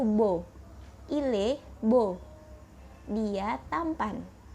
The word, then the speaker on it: beau: Di sini beau dibacanya itu beau.